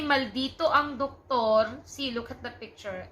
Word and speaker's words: doktor: And instead of pronouncing doctor, we pronounce it as doktor. Doktor.